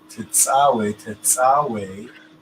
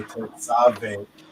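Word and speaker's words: תצוה: Tetzawe, that's how we pronounce it. They say Tetzave, but I believe I showed it. Did I show it to you? But take my word for it. It's Tau, Sade, Wow, Hey, right?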